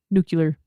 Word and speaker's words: nuclear: Nuclear.